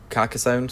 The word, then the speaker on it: Carcassonne: the Rings the living card game car Ciccone Carcassonne sorry Carcassonne Adela's pronounce it munchkin and Catan I've played the